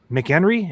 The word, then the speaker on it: McHenry: McHenry, is that how you say it? I hope so. Sounds like mayor in 1990. Tom McHenry. There he is. It is McHenry.